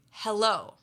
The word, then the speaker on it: hello: So, for example, the word hello. In English, we say hello.